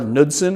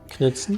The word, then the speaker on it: Knudsen: The K is not silent. K-N, yeah, it is silent. K-N-U-D-S-E-N? Yeah, Knudsen. It's Knudsen. Is it Knudsen? That's Is it though? That's, I mean, it's Danish or Norwegian, Oh, is it though? and it's Knudsen.